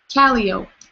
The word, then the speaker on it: Calo: but you know um you keep saying my name wrong I know how it's spelled but it's calo calo I'm sorry I don't